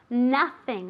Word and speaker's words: nothing: on the table okay remember the pronunciation of nothing okay as if it were with an a nothing else has to